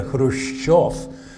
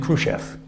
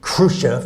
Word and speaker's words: Khrushchev: Khrushchev reminds me that John F. Kennedy made 4 mistakes when he pronounced the word Khrushchev. He talked about Chairman Khrushchev, and that has 4 mistakes in it. First, the accent, he had it on the first syllable, it should have been on the second.